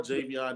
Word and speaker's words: Javion: But I mean, Javi or Javion, either one works perfectly for me.